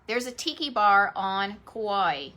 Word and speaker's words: Kauai: know who i'm talking about but uh so kawaii kauai right here every time i pronounce this in my head i feel like